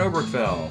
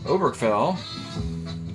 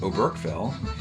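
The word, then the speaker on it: Oberkfell: base hit off of cleveland obergfell or o'brick fell uh if you want to mispronounce his name you can call him oberkel ken o'brick fails a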